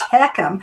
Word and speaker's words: HECM: No, and it's pronounced heckham, which sounds like you're coughing up something that you don't really want to cough up, but it stands for home equity mortgage conversion.